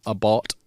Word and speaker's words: Abarth: them under the tag abath which technically should be called abart what ABA should be pronounced